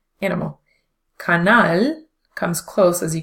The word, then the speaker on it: animal: In Spanish, animal carries emphasis on the final syllable, aka palabra aguda or acento agudo, or the acute accent, but in English it's on the first syllable, animal.